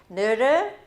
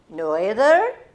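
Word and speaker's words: Noether: Her name is pronounced so many ways. Nerder, Noeder. I'm going to call her Nerder.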